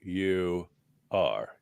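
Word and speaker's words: Uyghur: Y cand say about him u y g u r Jen yeah he doesn't have a h in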